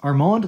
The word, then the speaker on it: Armand: stoked by the way that's pronounced Armand like Armando without the O anyways guys there you